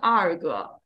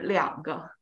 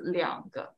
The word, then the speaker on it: 两个: When you say two of something, it's always 两个. Yeah. Two of something. Change the pronunciation. So if I have two older brothers, it's 我两个哥哥. Yeah. So only for two, we'll change the pronunciation.